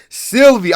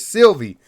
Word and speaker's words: Sylvie: sylvie sylvie that's it god damn i said her name wrong sylvia i'm so sorry it's sylvie so loki and sylvie